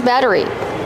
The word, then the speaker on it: battery: We see the double T making a fast D sound. Batter. Batter. Batteries. Like water bottle. Make sure it's a fast D. Batter. Batteries. Not a rolled R.